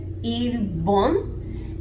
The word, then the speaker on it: 일본: This is read il-bon, but we have an actual b sound here as opposed to p.